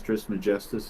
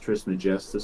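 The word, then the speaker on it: Trismegistus: was considered globe do you know who Hermes trisma Justice is I say again do you know who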